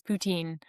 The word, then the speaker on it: poutine: pronounce it correctly, but as we also say it as English-speaking Canadians, poutine, right? But if you're in Quebec and you're speaking French, it would be poutin.